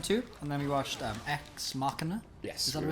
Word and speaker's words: Ex Machina: So we watched them two, and then we watched Ex Machina. Yes. Is that what it's pronounced? Ex Machina, yeah.